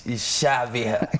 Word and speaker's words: Syaviha: for me is your name and how you pronounce it it's Shavian yeah yes all right sous-chef Ian Melinda coming